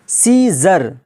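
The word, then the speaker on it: scissors: सीजर, एस के बाद सी है और सी के बाद देखिए आई आया है, तो यहाँ पर क्या हो जाएगा? सी साइलेंट होकर क्या हो जाएगा? सीजर, जिसका माना होता है कैंची।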